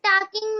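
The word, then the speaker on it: talking: Ma'am listen में टी एंड टॉकिंग में एल।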